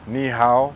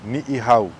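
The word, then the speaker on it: Niʻihau: Often mispronounced as Ni Hao. Let's break it down a little bit, yeah? The two I's, pronounce it as I, yeah? Ni'i. There's two. Not just one, but two. The second part, Hau, not How. Can you hear that?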